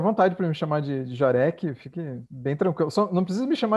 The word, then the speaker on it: Jarek: Esse Jarek é de origem polonesa, né? Meu bisavô veio lá da Polônia, né? A pronúncia correta seria Jarek, mas ninguém pronuncia assim, né?